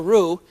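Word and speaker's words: roux: I go remember a rue is simply butter and flour mixed together so that you can use it as a thickening agent. It's spelled R O U X.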